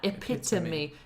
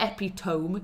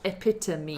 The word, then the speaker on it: epitome: pronounce epitome like that epitome it's not epitome you've got to pronounce the e as a separate syllable epitome uh I was teaching